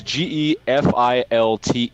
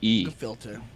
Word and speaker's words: gefilte: Okay, so it's spelled with a G actually. It's Gefilte. Gefilte.